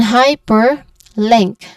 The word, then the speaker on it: hyperlink: The stressed sound is on the first syllable, which is high. And then hyperlink.